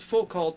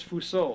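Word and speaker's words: Foucault: calls them fult Shadow actually I pronounce it full cult but I think the right way as Foo but I catch myself doing fol call once in a while but texr calls them Foo Shadow GRS isn't that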